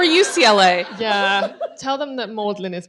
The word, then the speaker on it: Magdalen: for that really um it's apparently based on the medieval pronunciation but I think it's